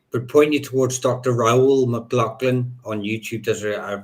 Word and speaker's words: Raoul: Raoul McLaughlin. Raoul or Raoul, I can't pronounce it. Raol.